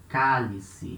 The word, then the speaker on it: cálice: Another example, cálice. Here letter L at the beginning of a syllable, cálice. So it's the same sound as lápis, lápis, cálice.